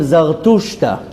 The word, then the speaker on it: Zarathustra: And Zarathustra. That's how you say it in Persian? In Kurdish. In Hebrew we call him Zartushta.